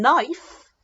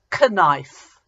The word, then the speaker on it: knife: is a little odd it starts with a K and usually we sound okay like but in knife it's a silent K and we say knife we don't say connive so here's a sentence